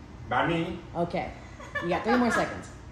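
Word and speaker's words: bánh mì: The second word is wrong. The first one I'm willing to take. But ban. Ban. Me. No. Me. Banh mi.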